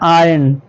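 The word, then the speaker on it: iron: और एक बात ये जो आई आर ओ एन लिखा है इसको आयरन नहीं पढ़ना है इसको पढ़ना है आयरन ठीक है आर नहीं पढ़ना है आर साइलेंट है ही हैड हिज टेरेबल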